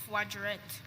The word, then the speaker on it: voiturette: Voiturette. Voiturette. Voiturette. No. Voiturette. Voiturette. Yes. Please, are there any alternate pronunciations for the word voiturette?